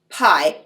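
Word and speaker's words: Piye: there was a cushite pharaoh named pai it's spelled p-i-y-e pie and under pie kush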